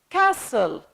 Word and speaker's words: castle: letter can't be pronounced Castle Castle which means Citadel the T can't pronounce pronounced we can say castle we say castle like listen colleague the UE the